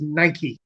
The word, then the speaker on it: Nike: is poseidon uh seven is apollo eight is nike or ah although just to be clear correct pronunciation is nike uh nine is hermes uh let's hope that